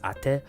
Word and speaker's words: Ate: welcome to the bunfire it's pronounced ate oh that me means older sister right in takala right I feel like